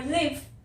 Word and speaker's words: live: फिर pronunciation, pronunciation मतलब बोलते कैसे हैं, और बोल तो मैं अलग ही रही हूं ना, एक लिव बोल रही हूँ, एक लाइव बोल रही हूँ, तो प्रोनाउंसिएशन इनकी अलग हो जाती है।